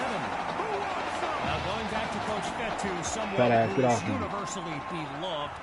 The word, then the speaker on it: Fetu: Fetu spelled F-E-T-U for the longest time. I was pronouncing it Coach Feta, like feta cheese.